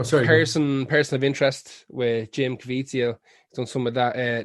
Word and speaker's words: Jim Caviezel: Jim Caviezel. Fuck. What? It's literally how it's spelled. Like, is it? Yeah. How about it was like Jim Caviel.